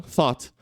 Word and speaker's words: thought: não tem é isso então thought é o th é o o a gente vai ver mais para frente Isso aqui é o o e o t th só três Ok só três foninhos numa palavra de sete letras tá então por isso